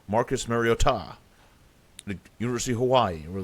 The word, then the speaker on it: Mariota: It sounded like kind of Spanish. Mariota. Mariota.